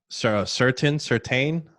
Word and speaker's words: Surtain: Certain?